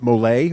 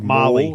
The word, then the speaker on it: Molay: Is it Molay or Molly? Molly? Molay. If you're from France, it's a Molay.